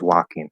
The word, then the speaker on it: walking: was walking i was walking the l is silent and walking it's a